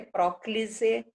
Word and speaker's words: próclise: Mas o correto é próclise, ênclise e mesóclise.